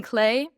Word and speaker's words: Klee: Yeah, we were looking it up because in German it's Paul Klee, I guess. Maybe. Still to be determined. Maybe. But I've been saying Paul Klee. Something in between. But some people say Clay.